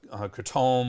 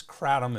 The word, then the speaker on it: Kratom: I always used to call it Kratom or something like that, but it is Kratom is the proper way to say it, at least according to the web.